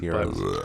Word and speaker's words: gyros: I think pronounced Gyros, euros, heroes. I don't know the official pronunciation, It's euros.